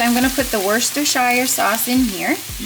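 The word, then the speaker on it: Worcestershire: So I'm going to put the worst shire sauce in here.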